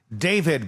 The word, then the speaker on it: D4vd: David, by the way, is how you say it.